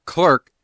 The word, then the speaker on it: clerk: A rat of a clerk!" He rendered the offensive word doubly so by making it rhyme with work.